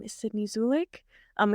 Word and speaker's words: Zulich: my name is Sydney zulik um it's spelled zulich please go with me here and pronounce it zulik for anyone who's confused